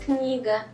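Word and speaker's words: книга: Okay, so the pronunciation is... Kniga.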